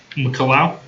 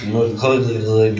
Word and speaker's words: McCullough: MC and then big C-U-L-L. So. O-U-G-H. What? Deputy Fire Marshal. Where? McCullough. McCullough? That is weird. Like Fox McCloud.